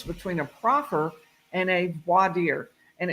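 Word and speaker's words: voir dire: a profer and a voadier and it's spelled v o i r d i r e and um from the French war c dear say so and a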